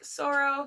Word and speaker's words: Soro: new son I'd named soro it's kind of like a male and female that couldn't really figure it out so it they just pronounced it as they and like sorrow so there's another monster